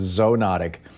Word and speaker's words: zoonotic: I've always just read I always pronounced it in my head zoo notic but somebody Yale called yesterday and said it's zone otic so anyhow tell me about this these these diseases are certainly common I'm not sure if I can help the pronunciation debates I think it might be tomato tomahto but I can tell you